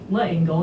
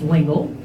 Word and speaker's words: L'Engle: Madeleine L'Engle, or L'Engle, I actually, before I came here, I realized that all these years I've been pronouncing her last name L'Engle, and it's L'Engle.